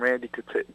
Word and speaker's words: Randy Couture: Randy Couture.